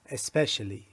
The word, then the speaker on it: especially: یه نکته تلفظیش هم بگم، این اسپشیالی نیست یا این سپشیال نیست. special especially. more than usual.